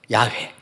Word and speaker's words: 야훼: A를 붙이고 여기는 E로 하나 달았어요. 그래야지 발음이 되니까. 그래서 야훼. 근데 이 이름에 굉장한 뜻이 있더라고요.